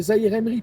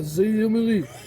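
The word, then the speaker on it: Zaïre-Emery: c'est Zahir Emery, pas Zahir Emery.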